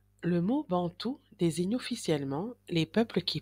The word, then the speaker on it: Bantu: mot bantou désigne officiellement les peuples qui parlent des langues bantoues et qui vivent globalement en Afrique subsaharienne. Il se prononce bantou.